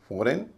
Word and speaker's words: foreign: आप कहेंगे फॉरेन और सोवरेन, स्पष्ट है, कोई भी यही कहेगा। इसका उच्चारण फॉरेन या सोवरेन नहीं होता, फॉरेन या